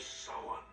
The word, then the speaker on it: Samhain: It's because people nowadays don't respect the classic traditions of Halloween, or as he correctly pronounces it, The Festival of Samhain.